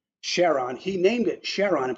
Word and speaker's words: Charon: he prefers the pronounciation Charon for that moon of Pluto's that would otherwise be pronounced Charon with a hard C so is an interesting